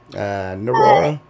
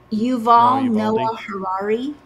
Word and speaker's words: Yuval Noah Harari: Yeah, that, how do you pronounce his name from the WEF? Narora? Yuval Noah Harari.